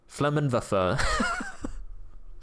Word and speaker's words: Flammenwerfer: Flammenwerfer. Very well said. Very well said. I love how he knew that it was German because he did not pronounce the W there English.